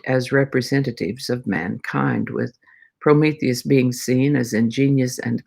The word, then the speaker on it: Prometheus: can translate as hindsight prometheus i put the emphasis on the first syllable but that's not exactly how it goes prometheus is how that is a prometheus literally means